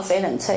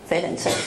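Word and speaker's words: 翡冷翠: 色的哈是佛罗伦斯。好，那徐志摩把它叫翡冷翠，因为意大利发音叫翡冷翠哈。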